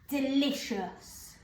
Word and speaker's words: delicious: So del, I, and shus is something that we're going to have a little look at in our next lesson. And we spell that for this word C, I, O, U, S.